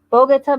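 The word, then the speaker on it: Bogotá: got corrected several times that it's Bogota, not Bogota, even though I like Bogota better, but I want to say it correctly.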